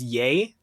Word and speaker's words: Ye: it's like Kanye yes I think his name is technically pronounced yay yay yay it's y-e because it's Kanye and